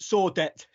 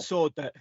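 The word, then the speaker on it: Sordet: that steve i suppose if you're english you go clement saw debt s-o-r-d-e-t clement sword there i don't speak dilingo clement sword that yeah yeah i mean must be a silent team isn't it if you're a frenchman yeah yeah yeah yeah yeah but yeah if you would you would rhyme with sorbet wouldn't it it would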